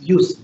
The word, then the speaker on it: jus: the word justice is used jus it's pronounced use is the use or